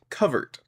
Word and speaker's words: covert: Um, so, uh, the word covert is not related to the word overt. It's related to the word covered, hidden, disguised. It's it's covert.